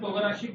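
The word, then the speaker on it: 唐辛子: It's called togarashi. It is pronounced as Togarashi, togarashi.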